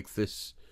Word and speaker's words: ichthys: I know we've seen the big fish, the ichthys, as it's pronounced.